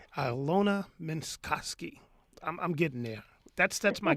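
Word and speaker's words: Alyona Minkovski: It's Alyona Minkowski. Alyona Minkowski.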